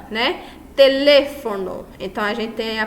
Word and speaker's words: teléfono: Teléfono. Então, a gente tem a palavra telefone. Em teléfono, a sílaba tônica recai no lê e aí acentuado.